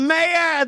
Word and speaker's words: Kamea: It's spelled Kamea Abrahams. Kamea, that's it.